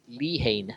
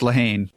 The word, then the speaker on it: Lehane: that's written by Dennis Lehane. All right. Hope that's how we pronounce it. I think it's Lehane. Lehane, okay.